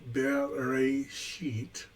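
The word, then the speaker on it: בראשית: Pronounced Bereshit.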